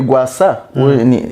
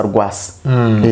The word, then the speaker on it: Rwasa: Rero nubundi uyu mugabo witwa ngo ni urumva uyu mugabo bita ngo ni Gwasa sinzi mu Kirundi bari kumwe ngo ni Gwasa ariko ubundi ngene nka pronounce Rwasa.